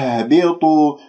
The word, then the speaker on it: اهبطوا: وقلنا اهبطوا، لاحظتم اهبطوا الهاء باهتزاز الأوتار الصوتية من منطقة أقصى الحلق،